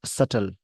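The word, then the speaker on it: subtle: India and Maldives, late सटल। इस word को सटल बोलेंगे, बी साइलेंट होता है।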